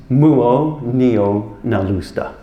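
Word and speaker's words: Muonionalusta: It's pronounced Muonio-Nalusta.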